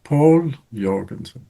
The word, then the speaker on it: Povl Joergensen: Povl Joergensen. How are you? Hello, Rafa. Okay, I said your name perfectly. The pronunciation is Povl Joergensen or Povl Joergensen. It's like you said first, Povl Joergensen. Paul Jorgensen.